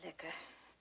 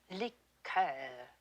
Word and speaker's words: liqueur: I'm afraid I don't care for liquor. When referring to a cordial, we use the French pronunciation. Liqueur, Miss Tinsley.